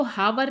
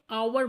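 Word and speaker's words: hour: इसको आपको हावर नहीं बोलना है। यहां पे एच को साइलेंट रखिए। आवर बोलना है।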